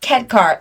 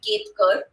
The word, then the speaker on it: Ketkar: I mean, in Indian accent, it would be Ketkar. Kidkar? No. Ketkar. Like, you don't have to roll your R's.